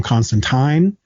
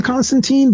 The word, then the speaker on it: Constantine: never actually read but i still hear people pronounce him as john constantine and i'm pretty sure it's john constantine but that that always